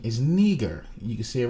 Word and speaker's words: Niger: well the pronunciation for this word they say nigeria but the pronunciation is neger you can see it right there niger that's